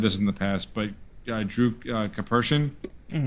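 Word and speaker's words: Karpyshyn: Um, and and I know I've said this in the past, but Drew Capers, right, that's how you pronounce it.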